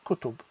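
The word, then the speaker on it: كُتُب: It can mean kataba, can be pronounced as kataba, which is he wrote, but also as kutub, which is books.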